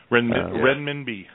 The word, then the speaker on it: renminbi: Yeah, and it's, you know, the other article I saw today that it says the, I never pronounced this right, the renminbi? Go ahead. Renminbi.